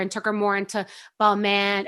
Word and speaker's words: Balmain: took her more into ball man or balmain on how to pronounce it balmain and balenciaga and givenchy